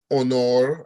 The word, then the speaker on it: honor: that H's in Spanish, that the H is silent. So you do not have to aspirate the H. So remember, it's hola, honor, and so on. No H sound for those words with beginning with H in Spanish.